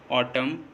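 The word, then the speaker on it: autumn: किसी वर्ड में एम और एन दोनों साथ में आएँ तो, किसी वर्ड में एम और एन दोनों साथ में आएँ तो एम और एन में एन साइलेंट होता है। जैसे ऑटम, कॉलम, डैम, हाइम, इन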